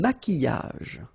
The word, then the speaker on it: maquillage: Un maquillage. Okay, so here, same rule, QU, but then U is not pronounced, so qui, and then y. Maquillage.